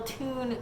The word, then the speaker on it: Thun: the little fun and then in parentheses says pronounced - t oon so I was like hey guys it's the little tune sweater and I guess tune is the name